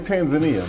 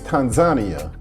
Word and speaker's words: Tanzania: I was used to saying Tanzania, but the locals let me know that the right pronunciation is Tanzania.